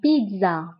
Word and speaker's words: pizza: فانتبهوا بالنسبة لا بيتزا بالفرنسية فكنطقوا لا lettre D مع انه ما مكتوبش دونك لا بيتزا. الوغ هنا كنطقوا لا lettre D la pizza la pizza la pizza.